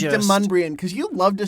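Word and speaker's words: Demonbreun: Well, because when I first moved there, I pronounced it Demon Bruin. I had no idea how it was pronounced until I heard somebody say it.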